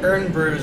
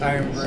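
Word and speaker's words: Irn-Bru: Oh, I guess the the Urn brews were actually pronounced Iron Brew, and we're just stupid for not pronouncing it properly.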